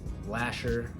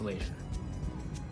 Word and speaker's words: Lashier: on our face but the correct way to say our last name is laser don't feel bad if